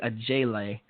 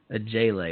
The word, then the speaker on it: Ojeleye: about, SMU, Semi Alauje, actually a J-Lay, spelled Ojeleye, a J-Lay. That's how you say it too.